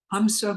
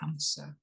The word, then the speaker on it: hamsa: we use is Huma it's spelled h MSA it is a breath Mantra it's the sound that your breath breath makes when you inhale and exhale hamsa goes on within you